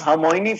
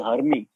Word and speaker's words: Hermione: She used to pronounce Hermione from Harry Potter as Hermie.